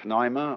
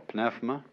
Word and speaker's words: pneuma: The Greek word, you may pronounce it pneuma or pnefma, is the same as spirit.